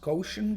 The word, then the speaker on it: Gaussian: sometimes hear called the gaussian distribution which is sometimes pronounced quotient distribution which makes it even more confusing is perhaps the most